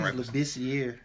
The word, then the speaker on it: Labissiere: I never pronounced his last name. I think it was Labissiere. Labissiere, you're right.